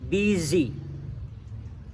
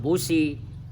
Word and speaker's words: busy: Itu bacanya I, busy. Busi tulisannya. Ya dalam bahasa Inggris maksud saya busy bacanya. Kalau di dapur silakan aja baca basi. Kalau di bengkel memang busi. Tapi dalam bahasa Inggris busy.